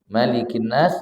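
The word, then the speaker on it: ملك الناس: umum membaca surah Annas maka malikinas baca pendek malikinas ilahinas Nah itu biasa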